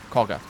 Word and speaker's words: Koga: to pronounce the word even though it's got an A you pronounce it o Koga that's what it is